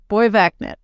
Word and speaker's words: Borgvattnet: So it's pronounced Borgvattnet.